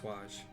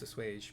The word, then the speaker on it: assuage: I might have pronounced awage. I might have realized, oh wait, no, it's a suage.